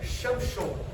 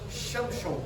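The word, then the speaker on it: שמשון: quer dizer sanção o a pronúncia mais Hebraica não é chamson chamson seria a é seria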